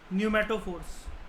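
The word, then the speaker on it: pneumatophores: P silent होता है, न्यूमेटोफोर्स।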